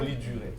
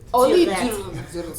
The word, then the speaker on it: Duret: Pronounce the T first. Oli Duret. Oli Duret.